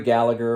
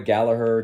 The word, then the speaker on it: Gallagher: and listened to this yesterday this uh rory gallagher or rory gallaher depending on how you want to pronounce it live in san diego i believe